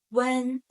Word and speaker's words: wén: So, n, a, n, when, with second tone, when.